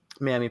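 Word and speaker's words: Mamie: I really dig Memory, specifically Memory sung by Mammy Paris, who's the Grisabella that I saw. Mammy, is it Mammy?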